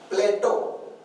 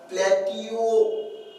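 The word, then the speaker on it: Plato: करायचं तो आपल्यासाठी त्याच्यानंतर प्लेटो आता याचा उच्चार पहा आपल्या उच्चार करायला गेला स्पेलिंग लक्षात राहायचं प्लॅटि उच्चार नीट आपल्या परंतु इंग्रजीमध्ये त्याला प्लेटो म्हणतात प्लेटो मग आता लेफ्टनंट एल आय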